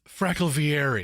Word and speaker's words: Frackalvieri: It's not Frackle. It's Frackle Vieri.